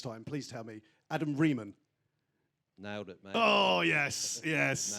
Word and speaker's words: Riemann: Adam Riemann.